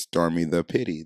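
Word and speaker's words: stormi_da_pitte: at s-t-o-r-m-i underscore d-a underscore p-i-t-t-e that is pronounced stormy the pity that is my favorite girl so now for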